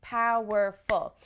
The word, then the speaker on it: powerful: like pow were full we have three syllables the word breaks into three beats so to speak powerful so we have to always ask ourselves which of these syllables is the stressed one in english in order